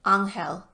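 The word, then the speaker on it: Ángel: Okolo pronounced the man's name in the Spanish way, Angel.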